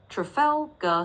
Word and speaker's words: Trafalgar: It's pronounced as square. So you can just say it slowly like that. Trafalgar square.